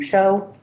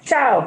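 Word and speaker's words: Hsiao: a consultant Dr William show I'm not sure if I'm pronouncing that correct ciao thank you uh to design three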